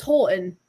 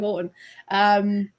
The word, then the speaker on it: Houghton: Because you said it was Houghton," and she went, "Well, no, it's Houghton. I say it in the book. It's a northern thing, but it's definitely Houghton."